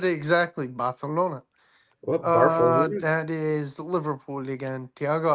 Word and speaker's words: Barcelona: You have to say it with almost like you're a Daffy Duck if you're from Spain. Yep. That's how they pronounce. Trust me, I've been to Spain a bunch. I've had to do it like 100. Barcelona. Barcelona. Yeah. You guys talk with a lisp.